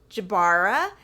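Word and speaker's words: Jbara: but yes played by Gregory Jabara if that's how you pronounce his name j b a r a they really set him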